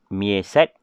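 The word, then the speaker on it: MEASAT: Okey, macam mana nak cara bacaan dia? Okey, MIESAT. MIESAT 2.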